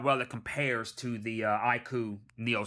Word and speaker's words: iQOO: The iQOO, that's how you pronounce it, the iQOO Neo 7 with the Dimensity 9000 Plus actually has a 5,000 milliampere.